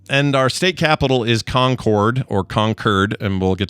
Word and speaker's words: Concord: Um and our state capital is Concord or Concurred. And we'll get to that in a second. She says it is pronounced conquered.